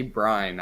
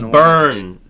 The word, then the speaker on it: Byrne: pronounce his name right is it john brine i say brian it's burn john byrne john byrne this is